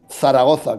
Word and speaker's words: Zaragoza: ¿Zaragoza o Zaragoza? No, Zaragoza, con 2 Zetas.